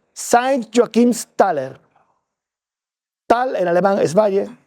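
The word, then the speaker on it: Joachimsthal: Pues bien, ahí se cuenta el Valle de San Joaquín y el Valle de San Joaquín, el alemán se se pronuncia Saint Joakims Taller.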